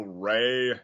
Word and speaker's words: Ra: Ra's name was also Ray. You could pronounce it either way, and yet the god of the sun is Ray.